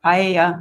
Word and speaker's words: paella: be used to cook paella. I'm not sure if that's how you pronounce it. At the party. It's pronounced paella.